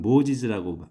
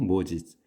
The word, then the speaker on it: Moses: 이게 영어로서는 모지즈라고 발음합니다. 모세가 아니고 모지즈.